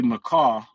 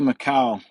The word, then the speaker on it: Macau: but I'm here on Sunday because uh UFC maau which is in China maau maau wow I really did pronounce that wrong uh UFC Macau started at 3:00 a.m Eastern Standard Time so